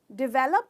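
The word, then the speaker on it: develop: अगर आप डेवलप कहते हो तो प्लीज़ आज से वो प्रोनाउंसिएशन भूल जाओ, ये बिल्कुल गलत है। इसका करेक्ट प्रोनाउंसिएशन है डेवलप, यानी कि 3 हिस्से हैं इस वर्ड में। कहते हो डेवलप, डिवेलप, डिवेलप। तो इसमें आप स्ट्रेस करते हो वे को, डेवलप, डेवलप।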